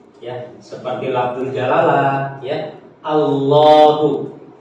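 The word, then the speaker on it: الله: seperti labdul jalalah ya Allahu Kenapa dibaca panjang itu kenapa ada Mad gitu di tengah padahal secara penulisan kan enggak nampak enggak ada Alif ya kan enggak ada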